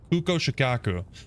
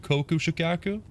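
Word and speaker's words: Kuko Shakaku: I mispronounced here. Kuko Shikaku. Honestly, pretty close. I'm pretty sure I said Koku Shikaku.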